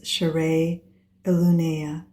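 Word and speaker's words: Sha'rei Elunaya: The pronunciation tone for key code 7 is share illuna.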